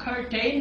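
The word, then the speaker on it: curtain: कर्टन. अब ये कर्टन को आप कर्टेन नहीं कहेंगे बल्कि इसे आप कर्टन कहेंगे.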